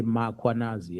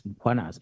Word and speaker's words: Mkhwanazi: them to pronounce Mkhwanazi, they will put an A after M. They will say Mkhwanazi, and there's no A, it's Mkhwanazi, MKH.